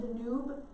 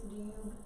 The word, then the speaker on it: Danube: It looks like Danube. They don't pronounce it that way. So I know it looks like Danube. It's Danube. They put a Y sound in it.